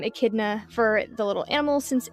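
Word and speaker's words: echidna: Uh the word akidna comes from the Greek akidna. Um there's not much of a difference in pronunciation there.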